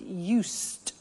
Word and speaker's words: used: Listen to the pronunciation. I said used with a T sound. Used, not used or used. Used. That's very important to distinguish it from the other verb, use.